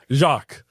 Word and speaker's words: Jacques: name is Jacqu and the way to say that is basically say Z before you say jock so like think of a jock strap put a Z before it and that's how you say my name Jacqu and yeah that's